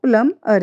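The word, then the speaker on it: plumber: next है प्लम्बर और इसका सही राइट जो प्रोनाउंसिएशन है वो प्लम अर है क्योंकि इसमें भी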